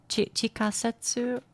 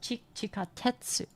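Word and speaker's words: 地下鉄: Chikasetsu or something? Chikasetsu? Nandakke? Let me look it up. Translate subway. Oh, it is chikatetsu.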